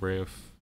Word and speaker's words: Ralph: I think he also might pronounce his first name weird. I heard he pronounces like Rafe or something like that.